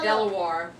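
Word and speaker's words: De La Warr: His name is Lord Delaware.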